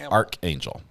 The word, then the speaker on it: archangel: too I'm English and we don't say Arch like a doorway we say it like Archangel so an archangel or